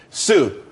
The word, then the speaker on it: Tsu: everyone could be happy Sue TSU it's pronounced Su though that's that's a website.